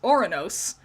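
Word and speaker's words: Οὐρανός: It's Greek. It's Orinos. Oros.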